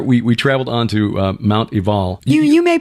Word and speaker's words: Ebal: Well, from there, we traveled on to Mount Ebal. You may pronounce it Mount Ebal, but we've been told it's actually a V sound.